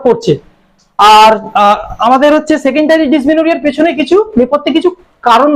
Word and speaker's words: Dysmenorrhoea: হচ্ছে সেটাকে ওরিয়া বলি, ডিসমেনোরিয়া। হইয়া লেখা থাকে কিন্তু উচ্চারণ হবে এটা ডবল আর ও এইচ ও ই এ, ডিসমেনোরিয়া।